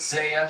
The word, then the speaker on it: Zaya: I called her Zaya last year. I saw her a couple days ago and I said, how do you say it? She said Zaya.